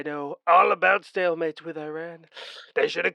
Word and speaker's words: Iran: it pretty tough against Iran. Yes. Why are you calling them that? It's quite clearly Iran. Yes. Yeah Yes, it is Iran, not Iran. Iran. I know you Americans say Iran, but it's Iran.